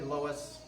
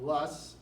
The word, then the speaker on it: Loess: There's different ways to pronounce this word. Some people say Loess. You'll probably pronounce it Loess. It's a German word. Some people got Lus, Lurse, it's all the same thing.